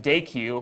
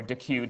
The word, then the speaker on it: dequeue: you have e type day q or dequeue depending on how you pronounce it and that's the equivalent